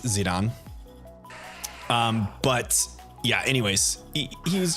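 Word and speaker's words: Zidane: to pronounce his name zidon like the like the soccer player cuz the whole like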